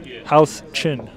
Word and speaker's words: Huchin: Michael Huchin in the live chat says his last name is pronounced say house, then chin. It ain't hard, brother. House Chin.